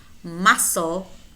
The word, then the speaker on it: muscle: Or we also have words which contain either the letter K or a C, which is silent. Knee, no, knife, kneel, new, night, knelt, known, not, muscle, knowledge, knowledge, asked, asked.